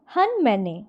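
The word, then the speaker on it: Hun Manet: हन मैने। जी हाँ, इसका प्रोनाउंसिएशन होता है हन मैने।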